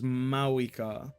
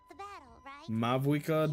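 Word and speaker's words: Mavuika: I've been saying it with the V. I mean, yeah, it's like, that's how it's spelled. You would think that's how it is, but they just said it. So it's Mawika, which I like more. Mavwika doesn't flow properly to me.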